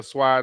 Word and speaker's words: swai: So I grabbed couple of boxes of catfish, box of sway or swai, depending on how you want to pronounce it.